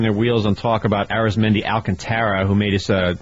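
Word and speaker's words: Arismendy: league de on Wednesday we've discovered that his name is pronounced differently and I had it wrong yesterday what is it and it's ARIS meni Alanta okay Aris mendi alcanta uh but he had four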